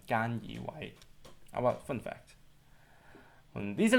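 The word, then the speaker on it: 菅義偉: Deswegen sagt man in Hongkong nicht Suga Yoshihide, sondern Gan Yiwei.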